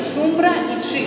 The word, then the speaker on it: шумбрачи: И в сложных словах ударение падает в двух слогах одновременно. Шумбра и чи, а не шумбрачи.